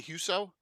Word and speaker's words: Huso: a special for a very special guest huso did I pronounce that correctly huso that's right okay very nice to meet you